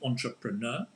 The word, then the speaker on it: entrepreneur: stolen from the French, but we use in English a lot with an English pronunciation, entrepreneur.